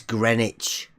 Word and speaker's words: Greenwich: we get this sorted it's it's greenwich oh sorry greenwich my bad also you don't proud you don't pronounce the w no thank you that's gmt it's greenwich mean time right right